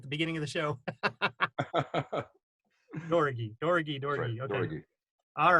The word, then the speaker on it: Doroghy: go from there and my last name is uh pronounced Dori it's an unusual name it's a Hungarian name Dori Dori that's correct yeah Dori